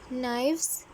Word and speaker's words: knives: नाइव्स hair के silent होता है नाइव्स में।